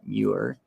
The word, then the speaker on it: Muir: Instagram uh handle his Instagram handle is Shamar mure did I see your name right like the